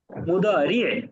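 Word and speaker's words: مضارع: মুদারি, একটু শেষে একটা আইন উচ্চারণ করতে হবে।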